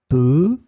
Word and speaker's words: peu: In this lesson, we will discover together two words that are written differently but pronounced the same way. Peut.